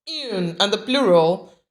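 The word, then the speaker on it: une: in then we have the feminine Yoon pronounced Yoon and the plural D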